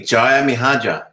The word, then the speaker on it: Djajamihardja: Djajamihardja.